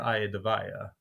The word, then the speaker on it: Iadevaia: them uh just listen remember the Rocky song IE of the tiger nice yeah so AA the tiger AA the vaa brilliant brilliant had that